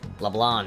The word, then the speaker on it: Leblanc: talk more over there Leblanc it bothers me I know that's probably the the correct way of pronouncing it but it bothered me so much but they don't pronounce the C it just sounds like